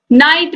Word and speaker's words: knight: तो इन सब में के क्या है? साइलेंट है, के का उच्चारण नहीं हो रहा।